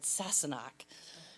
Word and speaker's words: Sassenach: And she pronounced it for me. She said, Sassenach.